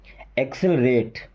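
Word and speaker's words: accelerate: okay then एक से देखिए एक को क पढ़ा एक को स एक से एक से rate एक्सलरेट exact एक्सलरेट okay then सी मु ले सन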